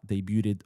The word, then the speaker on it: debuted: Brendan says, "Mo, I hope you speak multiple languages, but debuted only as two syllables. You always pronounce it with three." Uh, two syllables as in debit. No, that's three syllables.